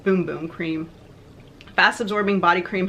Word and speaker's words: Bum Bum: I know it's not Bum Bum. It's pronounced Boom Boom cream.